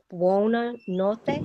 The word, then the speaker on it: buonanotte: Buonanotte? Yes. Buonanotte, yes. In Spanish you say buena, no? Yes. In Italian buo.